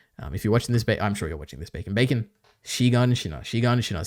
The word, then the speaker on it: Shiganshina: Anyway, that's my, I have one final note, which is actually it's pronounced Shiganshina, not Shinganshina, as Bacon says in this video.